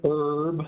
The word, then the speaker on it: Erb: My name is Erb. The last name is spelled E-R-B.